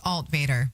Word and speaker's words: Altvater: It's Alt Vader, like Darth Vader.